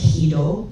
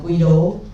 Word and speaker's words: Guido: Let's start from the beginning where Guido van Rossum By the way, his name is pronounced "Guido", not "Quido", not uh "Gwido", not "Gwado".